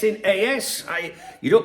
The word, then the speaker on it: AS: It's in it's in as I you don't pronounce it as.